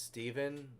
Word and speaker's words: Stephen: Oh, and my name is pronounced Oh, it's Stephen. Like, it's Stephen King.